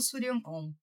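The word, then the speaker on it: Shuryanom: Suryanon se escreve S-H-U fazendo Sul, R-Y-A-N, Suryan. E depois O-M do mantra OM, porque sim, nós precisamos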